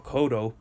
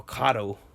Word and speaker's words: Cotto: is it that even when you talk about miguel cotto you call him Miguel kado I mean that's it